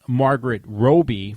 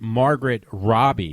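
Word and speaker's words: Margot Robbie: Australian I always said Margaret Robi for the longest time and nobody ever corrected me so I find out I see some interview with her and they say Margaret Robbie so that's how you say her name so finally I got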